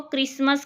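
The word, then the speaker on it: Christmas: patient मे यस यहां पर duty है यह साइलेंट होता है इसलिए इसको क्रिसमस कहते हैं ठीक है इसकी स्पेलिंग में पति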